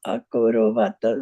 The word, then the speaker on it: akurvata: Kim akurvata Sañjaya. Yeah, you have to Practice. pronounce the last A, and then don't read from your mind, okay?